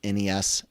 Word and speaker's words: NES: And guys, the proper way to pronounce it is NES and SNES or Super NES.